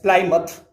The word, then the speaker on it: Plymouth: lies plymouth by the native speakers it is pronounced as plymouth nut mouth from this place means from plymouth